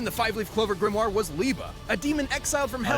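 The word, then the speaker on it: Liebe: Literally, housed within the Five-Leaf Clover Grimoire was Liba, a demon exiled from hell That's for how you say it. Leeva.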